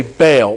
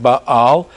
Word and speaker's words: Baal: And we usually say Baal, but the pronunciation is probably something more like Baal.